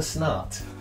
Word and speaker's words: Snart: Snart. That's my favourite Is one. Mr. Snart your favourite one? Is Yeah. that S-N-A-R-T? It's spelt exactly how it sounds.